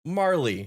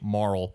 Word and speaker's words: Marle: so I took away morl but apparently it's more commonly pronounced Marley so uh little fun